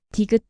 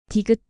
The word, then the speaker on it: 디귿: 디귿, 디귿, 드, 드, 드, 드. A soft T like in dog.